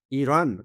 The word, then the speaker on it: Iran: Iran. Iran, and it's come from the Aryan, the land of the Aryan.